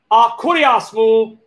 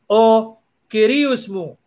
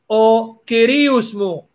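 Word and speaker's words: Ο Κύριός μου: So how does the native Greek speaker say it? O kyrios mou. O kyrios mou. But someone taught to pronounce the Greek in the New Testament Erasmian style, a la Erasmian way, Akurias mou kai hotheas mou. And the Greek speaker is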